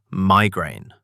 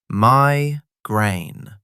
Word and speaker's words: migraine: Today's word, migraine. 2 syllables. Migraine. Stress on the first syllable. Migraine. Not migraine.